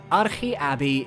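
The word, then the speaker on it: Arche Abbey: its own entry and I'm pronouncing the name correctly it's Greek Ari ABI is an assault on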